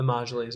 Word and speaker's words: Majlis: It's the same thing as Iran, who says we're going to give 5 seats in our, how do you say it, Majlis? The Majlis, yeah.